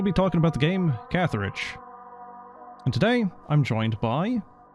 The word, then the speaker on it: Catharage: So, how do you pronounce this game's name? Am I close? You're basically correct. It is Catharage.